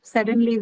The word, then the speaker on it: suddenly: this suddenly importantly something adverb suddenly when adverb hence the stress is on or first syllable first syllable How about seriously the